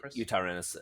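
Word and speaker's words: Yutyrannus: example mine would be you tyrannos saying yeah you tyrannos that's how you say it yes i did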